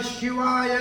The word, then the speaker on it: शिव: गुण अवतार शिवा है उसको भगवान शिव को शिवा नहीं भगवान शिव को प्राथना शिवा अंग्रेजी उच्चारण शिवा सही नहीं शिव नमो रण गर्भम